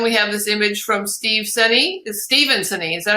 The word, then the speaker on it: Steven Senne: And then we have this image from Steven Senney.